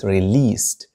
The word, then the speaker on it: released: لاحظوا نطق كلمة released. دي في آخر هذه الكلمة تنطق ت. released.